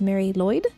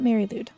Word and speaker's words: Mari Lwyd: enemy wrong last time it is Mary Lloyd not Mary ludd so apologies to Mary